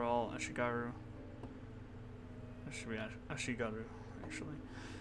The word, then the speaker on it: Ashigaru: It should be Ashigaru, actually. It should be pronounced that.